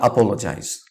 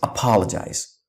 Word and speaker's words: apologize: in this beautiful world many Asians mispronounce this word as apologize it's not apologize its apologize many people even mispronounce